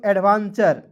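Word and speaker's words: adventure: उसके बाद देखेंगे ए डी बी ई एन टी यू आर ई पढ़ेंगे दोस्तों एडवेंचर।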